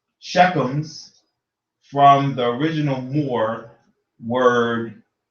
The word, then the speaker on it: Shechem: Chiefs were also called Shechems from the original Moor word Timere. Shechem properly pronounced Shechem.